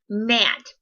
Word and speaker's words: gnat: Like in the word gnat, that would be another one that could go in that column because you spell it G-N-A-T.